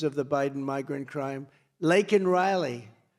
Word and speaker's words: Laken Riley: Laken Riley, and you know, Biden was unable to pronounce her name. Called her Lincoln Riley, and this was right after.